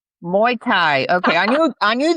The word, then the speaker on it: Muay Thai: and Hannah, please help me with the Muay Thai. Muay Thai, okay.